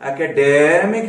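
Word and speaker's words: academic: इसको आप एकेडेमिक नहीं बोल सकते, मुझे खींचना है, प्राइमरी स्ट्रेस लगानी है, नहीं, एकेडमिक, ये यहां पर आपकी आवाज थोड़ी सी ऊंची उठेगी, एकेडमिक।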